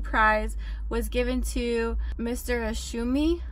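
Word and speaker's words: Ohsumi: Asumi I think is how you say his name for his work and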